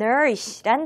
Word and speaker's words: nourish: 번째로 함께할 단어는 nourish란 단어입니다. 발음 연습부터 같이 해볼게요. nourish, nourish, nourish. 맨 앞음절에 강세가 있어요.